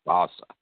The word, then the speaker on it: Fossa: mid to late 1600s, his name was spelled Jean, but they pronounced it John Fossa. That's how our last name is pronounced, Fossa.